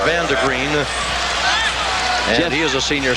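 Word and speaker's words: Vande Griend: d e g r i n d but pronounced Vander green and he is a senior six-footer he's seen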